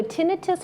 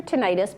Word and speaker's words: tinnitus: that affect the hearing so tinnitus or tinnitus both pronunciations are correct is actually a ringing